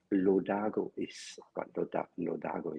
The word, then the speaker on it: Lodago: just tell us what LO Dargo is doing correctly yeah you pronounce it correctly and as it